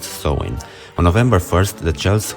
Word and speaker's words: Samhain: back to the ancient celtic feast of somnheim pronounced sowing on november 1st the chels who lived 2000